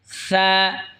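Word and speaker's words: ث: তা এরপর এটা হল ফা সা জিহবার আগা সামনের উপরের দই দাঁতের আগার সঙ্গে লাগা উচ্চারণ হবে সা নরম হবে সা এরকম যদি দেখা যায়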